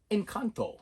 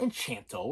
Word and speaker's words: Encanto: to push on us in kanto and kanto yeah not enchanto okay there's no h in there you you illiterate fool